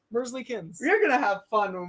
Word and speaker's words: Merzlikins: It is not Merzly. It is Merzlikins. It is It's so three. hard to pronounce. Merzlikins. It's three syllables. Mersley-Kins.